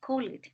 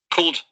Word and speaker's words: called: Ustedes acostumbran a decir call it. No. The appropriate pronunciation is called, called, cold.